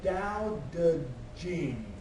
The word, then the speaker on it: Tao Te Ching: What's underlined there is it's pronounced the Tao Te Ching.